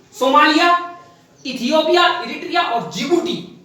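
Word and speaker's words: Djibouti: इसमें 4 देश आते हैं सोमालिया, इथियोपिया, इरिट्रिया और जिबूटी, जो कि जिबूटी की स्पेलिंग डी से शुरू होती है, ठीक है।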